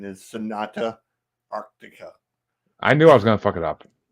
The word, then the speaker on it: Sonata Arctica: go um I'm with chansy and the correct pronunciation is Sonata Arctica I knew I was gonna